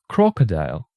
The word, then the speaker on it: crocodile: what so for example in Russian we say crocodil in English it's crocodile you see the stress is different and there is only